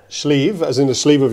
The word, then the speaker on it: Sliabh: So how do you pronounce it right? Schleave as in the sleeve of your shirt.